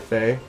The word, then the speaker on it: Fe: independent titles, and they showed a game called Fee or Faye. It's just F-E. Can't remember how they Faye. pronounce it. Hey. Is it Faye?